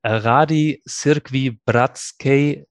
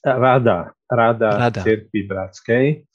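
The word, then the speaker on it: Rada Církvi bratskej: Ján Henžel, you are General Secretary of the Rady Cirkvi, bratskej, our partner church covenant in Slovakia. Tell us a little bit about your church covenant, and if I pronounced it right. Almost. It's Rada Cirkvi bratskej, and Rada Cirkvi bratskej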